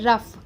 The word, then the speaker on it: rough: ठीक है, दूसरा है रफ़। रफ़ में देखिए स्पेलिंग क्या है, एक बार ध्यान से सुनिएगा क्योंकि वो बहुत इंपॉर्टेंट है।